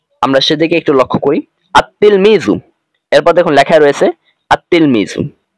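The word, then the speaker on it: التلميذ: দিয়ে নিচে লেখা রয়েছে আত তেলমিজু এখানে কিন্তু লাম হরফের লেখাই এসেছে কিন্তু পড়ায় আসেনি আপনি যখন লিখবেন তখন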